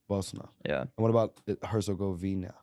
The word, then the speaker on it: Bosna: just take the eye out so it' be Bosna Bosna yeah and what about heroina yeah you got